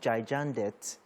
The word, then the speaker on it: Gigandet: Is it Gigandet or Gigandet? Gigande, the T is silent.